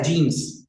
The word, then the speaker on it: genes: Yeah, jeans. Jeans like pants. Jeans. Same pronunciation. All right. Jeans. And that means genes.